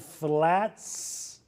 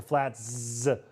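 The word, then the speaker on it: Flatz: The chain announcing a $5 crafted flats pizza. It's spelled F L A T Z. I think I have to emphasize the Z's.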